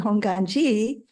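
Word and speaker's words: Hongwanji: now it's interesting because if you go by suuki honganji they use a w in there and it's being used everywhere now uh but I think we still pronounce it honganji except if you don't know you try to pronounce it w anyways that's kind of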